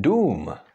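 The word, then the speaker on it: dům: is exactly the same it's long oo something that you would say for example in the English word doom and doom really is a cck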